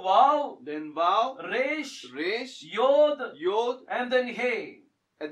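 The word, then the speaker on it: יה: the last two words இதுல முதல் எழுத்து வந்து யோத் the first alphabet is யோத் இரண்டாவது எழுத்து வந்து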